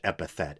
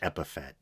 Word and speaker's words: epithet: Then again, a couple episodes back, I mispronounced epithet as epiphet, like Boba Fett.